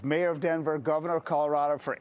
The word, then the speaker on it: Colorado: Brian, I do want to focus on, if you can, Colorado, because or Colorado, as they properly pronounce it, because I thought